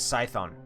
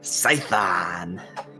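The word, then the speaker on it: Scython: for the tafeling over there the name is cython dm want to spell that for me all right yes all right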